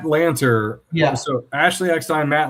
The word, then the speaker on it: Lanter: I mean, I'm thinking of Matt Leitner. Is that how you say his name? Matt Lanter.